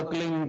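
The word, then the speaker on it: क्लीं: की मात्रा और बिंदी उसका उच्चारण होगा क्लिंग ग ग की निकलेगी पीछे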